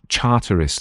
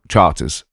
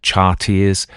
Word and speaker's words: Charteris: was easy to pronounce, Charteris, that's how he pronounced it, though he said that quite posh people would pronounce it Charters, but he said he also had Charteris, and Chartreuse.